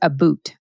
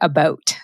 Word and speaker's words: about: of the word about I know you're thinking she keeps saying AB boot I am not saying AB boot I am saying about so let's get that